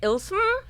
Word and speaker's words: ILYSM: Ilsum.